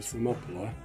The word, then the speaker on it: Thermopylae: I'm pretty sure by the time I actually get up to Thermopylae, which I used to call Thermopylae, I was terrible for pronunciation when I was a teenager.